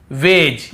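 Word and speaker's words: wedge: ये पढ़ रहे हैं फिर देखिए हेज और वेज यहां पर भी डी को हम नहीं पढ़ रहे हैं ब्रिज एज हेज और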